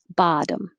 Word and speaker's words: bottom: and the last one these both look like o's but they don't sound like oh the first one sounds like ah and the second one sounds like uh so it sounds like bottom bottom that's it thank you